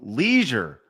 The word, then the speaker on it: leisure: So Leisure Suit Larry. Wait, what did Craig say? I said leisure. He says leisure. Yeah, that's the correct way to pronounce it.